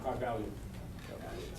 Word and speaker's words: Kybalion: Write it down, Kybalion. How you spell it, Tom? How you spell that? K-Y. Kybal, just like lion.